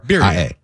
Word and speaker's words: birria: Birria? Oh, birria. Yeah. Yeah, got to roll the R.